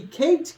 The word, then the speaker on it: CATE: with another video today we're going over the Kate coin 2.0 now this is spelled cat with an e at the end